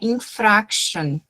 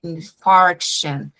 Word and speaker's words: infarction: in patients after myocardial infarction. Outra palavrinha, myocardial infarction. Não é infraction, é infarction. Parece que é de um jeito, mas na verdade ela é de outro.